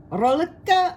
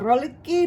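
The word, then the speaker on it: Rohlíky: The different kinds of breads that I'm going to be making, Rohliky or Rohliky, depends on where you're from.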